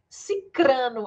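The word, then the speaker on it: sicrano: fulano e ciclano né não é ciclano viu é ciclano cicrano a pronúncia viu já até isso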